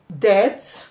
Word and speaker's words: debt: The written letter B followed by letter T at the end of words or syllable can be silent. That is, we find a silent B at the end of words where the B is followed by the letter T. For example, we have the word subtle, debt, doubt.